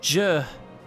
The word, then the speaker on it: Zhe: uh my name is J J yeah this spelled zhe e z h e z h e pronounce it pronounce it J like George J okay hello J I'm